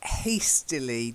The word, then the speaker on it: hastily: And then hastily, just a bit more of an A sound, okay?